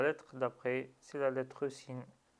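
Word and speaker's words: سين: Donc sin avec fetha, le premier son qu'on entend lorsqu'on dit sin, c'est le ton s. Donc ce s, on y ajoute l'accent fetha qui est e, donc ça donne se.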